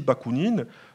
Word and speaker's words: Bakounine: le fils d'anthony sabadie bakounine du nom du célèbre révolutionnaire russe michail alexandrowicz bakounine alors écrit à l'italienne mais prononcé à la française d'où l'accent graphique d'ailleurs